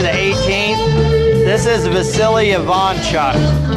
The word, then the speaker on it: Ivanchuk: But right here, the 18th, this is Vasily Ivanchuk. A lot of people pronounce it Ivanchuk. It's actually correct. He's from the Ukraine. The Ukrainian pronunciation is Ivanchuk.